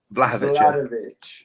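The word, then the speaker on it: Vlahović: Vlahovic. It's Vlahovic. I need phlegm for that, do I? It's basically Vlahovic without the D.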